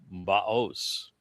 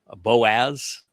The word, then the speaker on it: Boaz: And the one on the north side, the left-hand side, is Baos. Sometimes it's pronounced as Boaz, but Oz and Oz, it's the same verb in Hebrew.